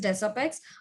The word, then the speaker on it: Desapex: our company name is Desapex. Word Desapex means the combination of two words, that is design and apex.